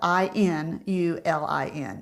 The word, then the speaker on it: inulin: going to see on the ingredient label inulin it's spelled i n u l i n inulin you can also find Prebiotic fiber such